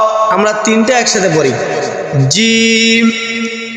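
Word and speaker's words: جيم: এটার নাম হল জিম। জিম। জিম। জিম উচ্চারণের সময় আপনার জিহ্বার মধ্য মাঝখান উপরে তালের সঙ্গে লাগা উচ্চারণ করবেন জিম শক্ত করে জিম জিম এরপরে একই সিস্টেম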